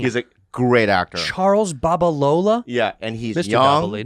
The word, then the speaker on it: Babalola: you say that rudy charles what alola charles barbalola what a cool name he's a great actor charles babalola yeah and he's just right english and him